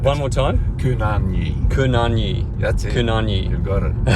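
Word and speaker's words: kunanyi: Kunyanyi. You're putting two Y's into it, and there's only one. One more time? Kunyanyi.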